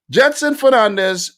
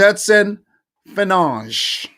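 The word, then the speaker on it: Gedson Fernandes: mobilization of players here Jetson Fernandez oh no no no no no no no no j Jetson fange say it right Jetson fange he leaves Tottenham and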